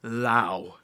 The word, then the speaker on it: Laos: get to the video it's pronounced lao wow i'm sorry i'm